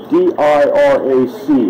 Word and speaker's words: Dirac: I don't know how to pronounce all these Polish names. It's D-I-R-A-C is how you spell the guy's name.